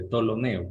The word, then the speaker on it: Ptolomeo: Ustedes pronúncienla simplemente como si no existiera la P. Directamente digan tolemaico, el sistema tolemaico. Y a eso se debe al nombre de Ptolomeo, que es el inventor de ese sistema antiguo que ya caducó.